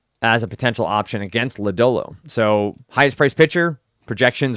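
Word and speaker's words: Lodolo: ladolo obviously has the upside for am I pronouncing his name ladolo yeah ladolo um has the upside for strikeout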